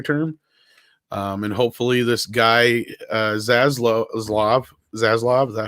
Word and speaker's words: Zaslav: And hopefully this guy Zaslav, is that how you say it? Zaslav? David Zaslav, yeah.